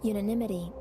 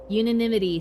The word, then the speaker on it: unanimity: How do you say it? Unanimity. Unanimity, thank you. As in unanimous, gotcha, okay.